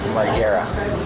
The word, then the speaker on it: Margera: Margera.